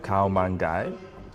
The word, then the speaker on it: Khao Man Gai: I would pronounce it Khao Man Gai. I would say the same. Kalman guy. Yeah. Khao Man Gai.